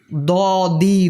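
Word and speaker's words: ضاد: এরপরে দদ কিন্তু দালের মতো না, ডির মতো না। বাদশার সিংহাসনে দ দি দু দদ জবর দ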